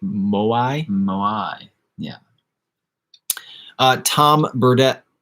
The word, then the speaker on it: moai: 1860 big heads on easter island are called moi moi i don't think we pronounce that right moai yeah uh tom burdette says jaw harps are